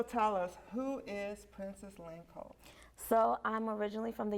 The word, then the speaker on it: Lanclos: And Did you she's pronounce all it the way, Lanclos?